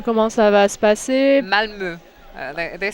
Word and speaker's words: Malmö: Malmö ou Malmo? How do you pronounce that? Malmö. C'est un O ouvert.